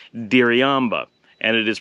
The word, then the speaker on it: Diriamba: it it looks like diriyamba and it is pronounced in the local accent where the r is very hard hit so it's essentially a light D so it's very difficult